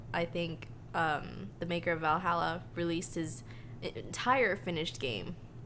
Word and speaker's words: VA-11 HALL-A: entire finished game like Valhalla I did not phrase that correctly however it is fantastic it's spelled VA 11 hall a but you know if you just type in Valhalla then it'll show up and it's like an